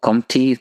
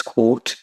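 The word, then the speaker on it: Comte: was quite influential this is August Court oh comy people are you right at comy but it's quot pronounced does anyone know who that name is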